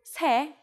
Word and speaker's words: 세: The native Korean number 3 is 셋, but we shorten it to 세 when we put it before a counter like 시.